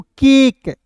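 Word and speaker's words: cake: शब्द के अंत में इ जो है दोस्तों साइलेंट रहता है और उससे पहले वाले स्वर का उच्चारण लंबा कर लेता है। ठीक है जी? जैसे यहां पे सी ए एल यहां पे सी ए के ई तो इसे क्या पढ़ेंगे दोस्तों? केक यहां पे दोस्तों क्या पढ़ेंगे?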